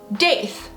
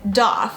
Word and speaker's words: daith: is going to be date because it's going to remind you of faith correct totally get that however the creator of the pearson eric dakota pronounces it like doth kind of rhymes with goth does the pronunciation matter